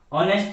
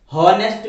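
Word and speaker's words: honest: ऑनेस्ट मैन, हॉनेस्ट मैन नहीं इसको बोलेंगे, ऑनेस्ट मैन बोलेंगे। तो यहाँ पे एच जो है वो साइलेंट है, और इसलिए यहाँ पे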